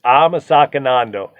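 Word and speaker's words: አመሰግናለሁ: It's amasakanando.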